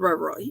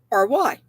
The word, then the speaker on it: Ravelry: anyway, she showed on, I think it's called Reverie. Anyway, I know I'm not pronouncing it right. Anyway, excuse me. See if I can find it real fast. It's Ravelry. Anyway, she said on there